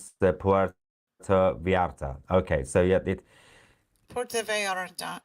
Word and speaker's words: Puerto Vallarta: Also, apparently, it's pronounced Puerto Vallarta.